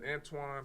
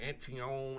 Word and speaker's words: Antoine: My name is Antoine. People be saying my name Antion, Anthony.